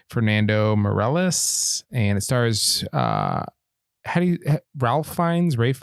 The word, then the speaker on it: Ralph: It's directed by Fernando Meirelles, and it stars Ralph Fiennes? Rafe? How do you say this guy's name? Rafe.